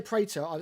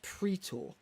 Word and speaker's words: Praetor: Although we say Praetor, I said this again in my video that's coming up. It's actually pronounced Praetor, not Praetor.